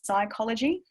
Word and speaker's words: psychology: head, but then like psychology, for example, starts with a P, but there's actually no P, there's psychology.